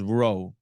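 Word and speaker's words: ρ: to mass over volume I know it says P but that is actually pronounced as row okay not to be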